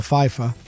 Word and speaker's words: Pfeiffer: in there i am unless it's a silent p like michelle pfeiffer the podcast is the